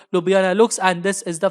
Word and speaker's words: Ljubljana: So the capital of Slovenia is Ljubljana.